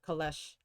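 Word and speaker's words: calèche: Okay, yeah, I'm pronouncing the Kalesh correctly. I just looked it up. It sounds French.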